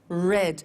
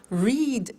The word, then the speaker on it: read: made meet met read read notice that now read and read are written exactly the same but the pronunciation changes in the past tense read read say said